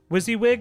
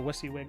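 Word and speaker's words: WYSIWYG: Wizzywig is what I've always been told. Yeah, I think that's probably right. I I heard someone pronounce it Wissywig last week and I'm just like, okay, maybe they're just memeing.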